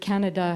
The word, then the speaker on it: Canada: And of course, the word Canada has the accent on the third syllable in French, Le Canada, and in English, it's on the first syllable.